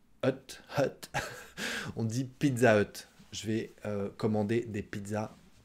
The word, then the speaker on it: Pizza Hut: pareil on dit pas pizza huttes non on dit pizza hut sauf qu'on prononce pas le h2 haute on dit pizza hut je vais commander des